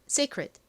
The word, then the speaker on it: secret: 자, 다음 t는 원래는 티소리트 소리가 나는데 이렇게 끝부분에 오면 굉장히 약하게 발음이 납니다. 그래서 secret secret secret 이렇게 거의 받침처럼 들려요.